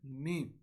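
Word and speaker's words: م: So first we'll read the letter meme. Whenever we'll pronounce the meme, it will be pronounced from the dry portion of the lips, like this. Meme.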